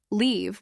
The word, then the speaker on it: leave: on the other hand, leave with a long I sound means to go away from a place, like I will leave the party at 9.